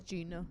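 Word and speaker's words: Jena: Jenna versus Sterling and Division 3 non- select. It's Gina.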